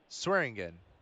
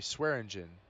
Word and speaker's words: Swearingen: Depp Meer easterling Pineo saringan Reed or sorry Swearingen I should pronounce his name right too Reed Mugen Sans